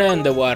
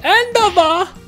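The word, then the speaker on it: Endeavor: O meglio, Endova! Perché i giapponesi non sanno pronunciare parole in inglese, quindi Endova! Dai, diciamolo bene, Endowar. L'accento è un po' sbagliato anche il mio, ma in sostanza è quello. Endowa. Perché è francese.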